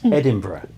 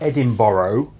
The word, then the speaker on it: Edinburgh: It's Edinburgh, and it's not Edinburgh. Like you Americans say, I'm going to Edinburgh or Berkshire.